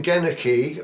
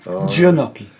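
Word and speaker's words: Genockey: Then with Liam Genki, uh you he'll be very displeased that you pronounce it like that. It's I beg your pardon. It's Liam Jani. Gino. Janaki.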